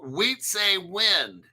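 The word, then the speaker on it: Wietse Wind: Wheat say wind. His name is spelled wie t. We say wind begin collaborating with other entities in the so this wind guy started flare.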